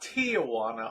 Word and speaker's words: Tijuana: returned from tijuana not tijuana although you'll hear many people calling tijuana both south of the border and in the united states it's officially tijuana three syllables not four i'm not sure